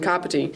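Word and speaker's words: Kāpiti: The ka from Kapiti sounds like the car we drive.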